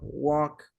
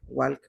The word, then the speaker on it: walk: Talk, walk. No se pronuncia la L. Talk, walk, no. Sin la L.